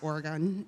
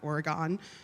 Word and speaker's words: Oregon: of Portland, Oregon, which, by the way, is pronounced Oregon, not Oregon.